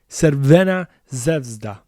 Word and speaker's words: Crvena Zvezda: FK Crvena Zvezda. I I wanted to say it the way that it was originally pronounced.